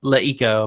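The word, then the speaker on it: LeEco: So it is Leiko, much as it was Le TV.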